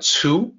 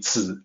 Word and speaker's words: 子: I know people pronounce it like Tzu sometimes, but it's actually Zi. Whatever romanization system you use, it's supposed to sound the same, like the original Chinese.